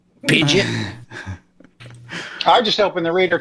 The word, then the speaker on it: Pidgeot: You can pronounce that one like Idjit. Pidgeot.